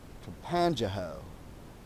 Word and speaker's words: Tangipahoa: to the town of Campanjaho, and that is pronounced correctly because I stopped and asked.